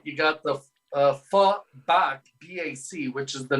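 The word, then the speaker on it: phở: Well, it's the pho, but PHO, which is funny because generally speaking, they pronounce it pho, F-U-H, picture pho, right?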